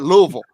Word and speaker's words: Louisville: streets down here hey they don't even pronounce the eye and ville no we're at louisville we're from louisville we don't even know